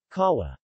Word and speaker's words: kawa: W, not as strong as English. W. In wheat, for most speakers of the language, the only difference between W and short U is that W is shorter.